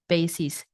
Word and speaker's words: bases: make it clear oh there's two pronunciations for b a s e s so for this case in our clearing statement is Basis okay so today we're